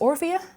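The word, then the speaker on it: Orphea: yes I'm excited to talk about they've announced or via that is how you pronounce their morphia yes yes the first character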